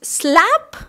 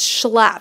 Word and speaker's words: Schlapp: Cubans, they were like, so is it Schlapp? Because they can't do the sh sound. And I was like, no, Mom, it's Schlapp. So she'd go, oh, shrimp, Schlapp.